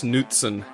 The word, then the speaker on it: Knutson: Oh dear god, Kent Knutson. Look at that. It's spelled Knutson though, isn't it? Like Scandinavian. Yeah.